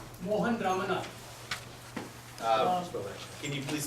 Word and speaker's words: Mohan: Mohan Ramana. Can you please spell that?